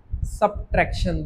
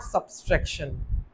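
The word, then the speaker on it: subtraction: क्या लिखा हुआ है सबट्रैक्शन, this is नॉट सब्सट्रैक्शन। ठीक है सब्स है ही नहीं कोई वर्ड, मतलब वो लेटर ही नहीं है एस बी के बाद।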